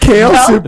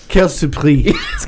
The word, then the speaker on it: quelle surprise: How Say it correctly, because I only speak Lancôme French. Quelle surprise.